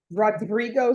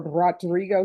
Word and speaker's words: Rodrigo: And I rolled my R. Oh, didn't show up. He's a no-show. All right, let's do this. Did somebody make an announcement in the hallway for Rodrigo Sto? And roll your R.